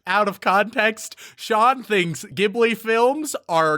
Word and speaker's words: Ghibli: Like I said, most people have a favorite Ghibli movie. Although some people will pronounce it Ghibli as well, which is fine. I just prefer Ghibli because I think of it as a hard G.